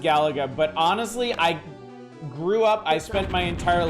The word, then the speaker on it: Galaga: know I know it's Galaga I know it's pronounced Gallagher but honestly I grew up I spent my entire life calling it gallega and that's not the easiest thing to like